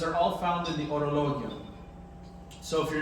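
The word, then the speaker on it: Horologion: It's called the Orologion. That's how it's pronounced. It's silent H.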